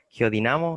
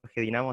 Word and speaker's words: geodinamo: o sea, hay gente que lo dice con una sílaba tónica y otro con la otra. O sea, geodinamo y geodínamo. Y si Ah, fuera geodínamo sería drújula y ahí sí llevaría tilde. Pero nosotros le decimos geodinamo, así que no le pusimos tilde.